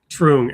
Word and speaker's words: Truong: Truong.